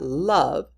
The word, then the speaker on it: love: You've got love, which has a silent E at the end but makes the short A sound or short O sound, and none, which also